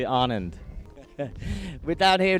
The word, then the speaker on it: Anand: He's like, Anand, but it's actually Anand.